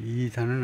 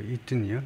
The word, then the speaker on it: Eaton: Eaton은 이제 이단은 아니고 Eaton이요. 영국의 그 Eaton School. 1200년대에 만들어진 Eaton School. 그 스펠링하고 똑같죠.